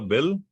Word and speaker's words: bil: the car called a bill? Yeah, it's right here. Car is B-I-L. Oh, okay. Cool. So bill, just a normal bill. So car in Danish is B-I-L, but it's actually pronounced bil.